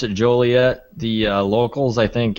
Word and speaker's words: Joliet: Juliet, but it's um it's not Juliet because it's an O and not a U. Um I pronounce it Joliet. The uh locals I think actually pronounce it Jolliott, but yeah, go with whatever you want there.